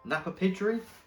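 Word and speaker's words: Napapijri: Okay, next item, we've got some, I never know how to pronounce this brand. Napa Pidgery. Napa Pidgery?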